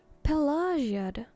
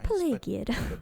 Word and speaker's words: Pelagiad: Pelagiad? Oh my gods. All this time I have pronounced it Pelagiad. But I was definitely very, very wrong.